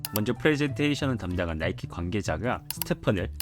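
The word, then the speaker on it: Stephen: 먼저 프레젠테이션을 담당한 나이키 관계자가 스테펀을 스테판이라고 발음하는 실수를 저질렀는데 미팅에 참석한 그 어떤 직원도 이 실수를 정정하지 않았다고 합니다.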